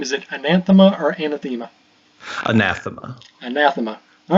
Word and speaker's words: Anathema: So just to make sure we have, what is the proper pronunciation of your game? Is it Anathema or Anathema? Anathema.